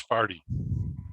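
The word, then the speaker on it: forty: Louis is ask them to pronounce the word for the numbers 40. Because in St. Louis, they say it's farty.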